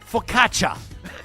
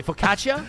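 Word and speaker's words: focaccia: He said, "Jespersonson, for the love of God, it's pronounced faukatcha." I didn't notice that. I didn't foc I I I think I What did I say? Fukacia. Fukacia.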